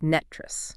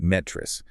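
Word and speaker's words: NTREIS: That's NTEIS, and for anyone not familiar, it's pronounced NETRIS. Right, NETRIS.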